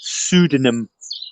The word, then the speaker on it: pseudonym: when you read it it's a silent p at the front of it yeah you can say it doesn't matter you can say it without the p and it's just pseudonym okay can it connect